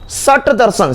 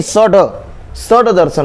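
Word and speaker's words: षड्दर्शन: सट दर्शन, सट ट नहीं होता, उनको लगता है सट मतलब 6, सट, सट नहीं, सड दर्शन होता है, सड दर्शन।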